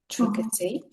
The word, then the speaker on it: intricacy: The stress is on the first syllable. So intricacy or intricacies.